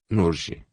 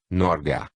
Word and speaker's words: Norge: a referir-se à Noruega ele não pronunciava tal nome sob esta forma portugues ada e sim na forma provavelmente usada no próprio norueguês norge norga o senr Agenor não